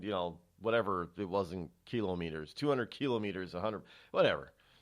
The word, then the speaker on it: kilometer: mispronounced words you know we call it kilometer well it's not a kilometer it's a kilo meter well everything else is